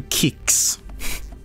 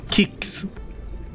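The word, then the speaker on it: Qix: to say but I I'd love to do kicks you guys ever played kicks before is that game where you're like you're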